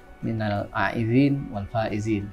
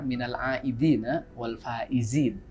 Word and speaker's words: Minal aidin wal faizin: saja Minal aizin walfaizin yang kadang-kadang ada orang yang mengucapkannya mungkin agak tidak sesuai dengan pronounnya ya karena sebenarnya itu Kan berasal dari kata dari bahasa Arab terjadi pengucapannya itu yang benar Minal aidin wal faizin faizin itu artinya dari